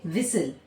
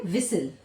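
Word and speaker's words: whistle: इसके बाद देखिए एक होता है विसल। होता है विसल। ठीक है? विसल तो क्या है यहां पे? टी साइलेंट है।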